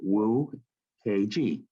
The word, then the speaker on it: Nwokeji: So first name, and then the last name is spelled Nwokeji, and it's spelled Wu KG.